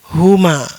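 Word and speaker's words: هما: Ini adalah huma cara membacanya.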